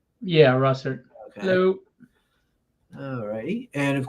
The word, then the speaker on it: Russertt: how do you say your last name Russert yeah Russert hello all righty and of course Sam is